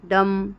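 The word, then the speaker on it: dumb: का जैसे com, Baum, थम, डम, ठीक है। अब बी और कहाँ साइलेंट होता है, टी से अगर पहले आ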